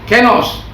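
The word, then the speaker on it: καινός: Kalau dalam bahasa aslinya dibilang kainos ya, menulisnya kainos tapi bacanya kenos.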